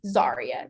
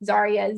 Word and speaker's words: Zariah: So here in this circle right here in the center is how you pronounce my name. Zarya. That's how you say my name. Zarya. Z A R I Ah.